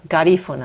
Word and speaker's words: Garifuna: Garifuna. Garifuna with a stress on the second syllable.